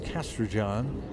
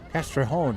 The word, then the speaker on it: Castrejón: Number 9, I believe, is Castrojon. Castrejón is actually how it's pronounced, with a J in there.